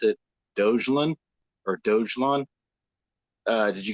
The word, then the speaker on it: Dogelon: but i don't know so on the first website it was announced as dog a long okay so that's how they want us to pronounce it because doge or